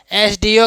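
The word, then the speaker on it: SDO: ही ही इज एन एसडीओ in this district वह यहां का क्या है एसडीओ है एसडीओ का उच्चारण एस से शुरू होता है जो वोवेल साउंड है।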